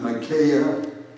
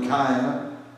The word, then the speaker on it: Micaiah: His name is, some pronounce it Micaiah, some Micaiah.